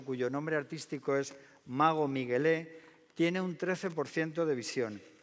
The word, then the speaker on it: Miguelé: Me llamo Miguel, aunque suelen llamarme Miguelé, con acento en la E, en la segunda.